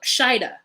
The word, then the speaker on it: Shaeeda: Girl, I don't know how they're Shaeeda is how they're pronouncing it.